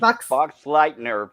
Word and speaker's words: Boxleitner: I'm guessing Bruce Boxleitner, from what Tiger Stripe said.